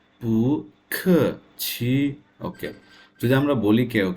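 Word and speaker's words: 不客气: পু খ, পু ইজ এ সেকেন্ড টোন, খ ইজ a fourth tone. QI ছি, মুখ, আমার মুখ এবং উচ্চারণ। QI ছি, পু খ ছি, পু খ ছি।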